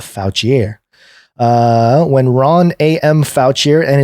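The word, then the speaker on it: Fouchier: is I mean it's it's spelled fo u CH I er so not foul Chee a foul Qi air when Ron am voucher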